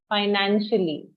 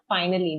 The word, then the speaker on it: financially: Just finally नहीं कहेंगे, financially. Pronunciation, financially, not finally.